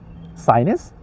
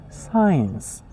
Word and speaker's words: science: Sinus? No. Science.